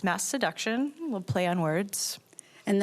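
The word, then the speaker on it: Masseduction: Vincent, the new album called Mass Seduction. I have to say I didn't know initially how to pronounce that because it's a very fun word.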